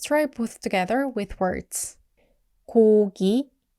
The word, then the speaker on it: 고기: which means meat, and I usually romanize it as G-O-G-I. Even though it doesn't exactly sound the English G, that's okay. Sometimes students comment that it still sounds like K, and that's understandable. But for Koreans, it's actually a clearly different sound.